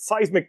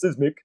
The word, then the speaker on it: Cysmic: And and yes, everybody mis, you know, mispronounces it if they don't understand what the game is, everybody always says sysmic.